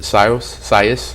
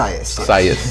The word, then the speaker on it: Sias: And is there like a vision or mission with Sios? Am I saying it right? How is it? Sias.